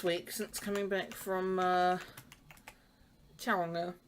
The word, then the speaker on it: Tauranga: So, I've not filmed all that much this week since coming back from Tauranga, or Tauranga, to say it correctly.